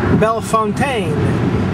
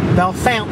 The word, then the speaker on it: Bellefontaine: The next town you would think would be pronounced Bellefontaine, but it's actually in proper Ohio and is pronounced Bellefountain.